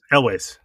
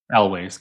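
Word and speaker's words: Elwes: Elways. Okay. Dion looked it up. That's how you pronounce it? Elways.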